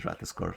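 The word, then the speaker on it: Ratatoskr: a very fun streamer that her name is Ratascore, so that's how I know how to say the name well.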